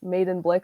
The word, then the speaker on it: Medenblik: So my name is Medenblik, and I like to tell people the easiest way to remember to pronounce it is Medenblik, like made in China, but made in Blick.